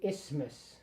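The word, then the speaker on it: isthmus: Magnum albumin added clicky clicky clicky down the passage into the ismas. You don't really pronounce the th.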